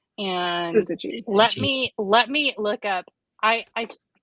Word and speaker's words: Syzygy: Tell us how we should pronounce their name. Their name is Syzygy, and Syzygy.